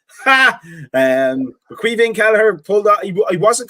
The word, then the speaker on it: Caoimhín: And I said that correctly, by the way, because he's from my country and I know how to say his first name. Caoimhín Kelleher pulled out.